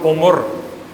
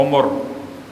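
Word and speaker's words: عُمُر: ہے۔ ارذل العمر، کیونکہ ہمارے اردو کا تلفظ عمر ہے، اور یہاں استعمال ہوا عمر، عین پر بھی پیش ہے اور میم پر بھی پیش ہے، عمر۔ اور تم میں سے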